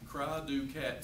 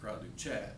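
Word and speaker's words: cri du chat: syndrome that they named Cry-Du-Cat syndrome. It's spelled CRI/DU/CHAT. It sounds like Cry-Du-Chat, but it's called Cry-Du-Cat syndrome.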